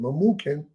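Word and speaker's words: Memucan: tarish MZ Marina and mukan mukin that's how you pronounce it mukin the seven princes of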